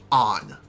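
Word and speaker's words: Ann: know what i said her name is pronounced on i know i hate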